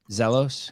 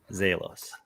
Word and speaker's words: Zelos: thing this zelos games am I saying it right zelos I think it's zalos zalos what Jared grabiel is